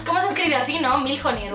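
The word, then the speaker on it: Mjolnir: que nunca sé pronunciarlo mil jir Cómo se escribe así no milier o algo así escribe m j o L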